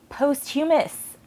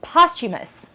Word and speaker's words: posthumous: Finally, last on my list is, I've always said posthumous, and NPR, my gospel o pronunciation, every time this comes up, they say posthumous. Again, I trust NPR because they're smarter than me, and yeah, so posthumous. Apparently, I have been using the emphasis on the wrong syllable for my entire life.